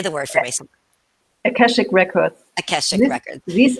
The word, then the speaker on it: Akashic: No, and you mentioned I can't pronounce it. Ashkanic say the word for me. Akashic records.